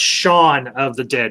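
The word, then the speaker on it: Shaun of the Dead: need to watch shaw it's pronounced shawn of the dead not dawn it's it's a pla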